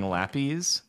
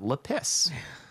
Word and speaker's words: lapis: really long time and i got some complaints about that so i was like okay i will pronounce it differently if you want i will call it lapis making friends over here